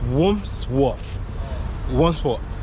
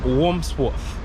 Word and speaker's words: Wandsworth: I don't know, I can't pronounce the word. It's Wandsworth. Yeah, is that the right word? I'm not pronouncing it. I think I have some speech problem today. It's Wandsworth.